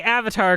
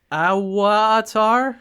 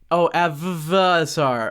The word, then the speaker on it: Avvatar: Avatar an unauthorized parody I say Avatar because it has two v's for for legal reasons probably are you sure that's not pronounced awatar no no no no that's just a design choice on their website it's Avatar okay man I I